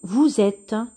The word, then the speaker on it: vous êtes: va se prononcer jeu on va relier les syllabes vo vous êtes êtes et on va dire vous êtes vous êtes voilà ils sont ils sans nous